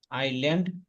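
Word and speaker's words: island: আইল্যান্ড দ্বীপ এখানে ইয়াসের উচ্চারণ হবে না এটা একটা একটা ভাষা থেকে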